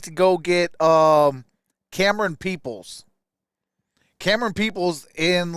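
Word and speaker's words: Camerun: it can run camera Cam Cameron like Cameron but it's spelled like cam it's spelled c-a-m-e-r-u-n peoples I think will love us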